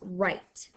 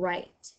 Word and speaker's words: write: word for today is right like I can write our spelling words right W R I T you the W is silent and right let's go ahead and